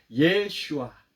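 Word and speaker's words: ישוע: 어서는 상당히 잘못된 발음이고 예수님의 원래 이름은 한국어 발음이 오히려 더 가깝습니다 예슈아 호와의 구 그이 호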